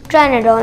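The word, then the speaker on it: Pteranodon: और आपको पता है एक और, उसका नाम है ट्रेनाडोन। आपने देखा होगा मेरी पुरानी वीडियोस में, लेकिन आपको पता है उसका पी साइलेंट होता है, पी।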